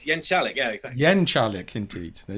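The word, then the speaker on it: Jeczalik: It's Jenkalik, yeah, exactly.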